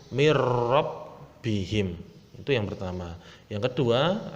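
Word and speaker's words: مِن رَبِّهِم: Membacanya karena ini idgham bila gunnah langsung masuk tanpa mendengung, mirrabbihim.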